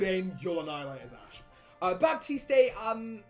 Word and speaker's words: Baptiste: Baptiste, or Baptiste, as I've been told it's pronounced.